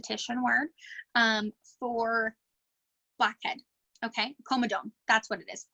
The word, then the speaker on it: comedone: comet agenda to ssin word for blackhead okay coma dome that's what it is comedone you'd think I know see I went to